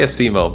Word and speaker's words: Asimo: How do you pronounce it? All right, cool. So before we begin... Oh, sorry, go on. I say Asimo, but I don't really care.